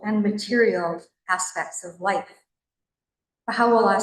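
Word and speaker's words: Bahá'u'lláh: get but pronunciation first translated from Arabic baja means glory u means of And la is a contraction of Allah, God. Glory to God. When you run it all together, bahalah.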